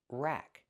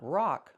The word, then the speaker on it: rack: Pronunciation, rack. Use the short a sound like black cat. Not rock like rock and roll, but rack.